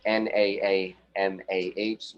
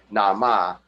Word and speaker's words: Naamah: So we know her as Naamah, who a lot of people call Nama, who is very, very